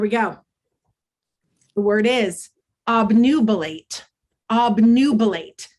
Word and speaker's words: obnubilate: This is an open syllable, so this U is going to shout its name, which is why we say obnubilate and not obnubilate.